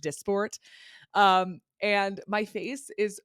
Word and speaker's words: Dysport: I thought it was pronounced dysport. It's pronounced it's pronounced dysport.